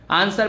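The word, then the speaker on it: answer: तो आंसर, इसको पढ़ो आंसर, सर डब्लू जो है वो कहीं आ ही नहीं रहा, आंसर, तो आंसर जो है वो मूक, मूक मतलब साइलेंट है, यहाँ पे क्या है? साइलेंट लेटर है डब्लू, ठीक है।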